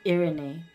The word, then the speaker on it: Irene: Did you know Irene pronounced her name as Irene? Irene. Irene. Okay. It's Irene.